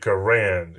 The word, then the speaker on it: Garand: He pronounced it Garand.